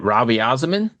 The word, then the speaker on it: Raviasamin: So how do you pronounce it? Is it Ravi Azamin?